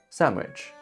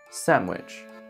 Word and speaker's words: sandwich: So if we apply what we learned today, we realize, okay, the n and w are now together, so the n may change to an m instead.